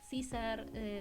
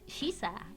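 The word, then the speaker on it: Caesar: César Sepri. O sea, no es César, no es César, es Shiza. Literalmente es Shiza.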